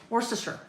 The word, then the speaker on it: Worcester: Worster, right? I believe that's how it is pronounced.